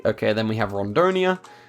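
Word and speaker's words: Rondônia: Okay, then we have Rondonia. I think it's pronounced Hondonia, and then also I learned some other pronunciations.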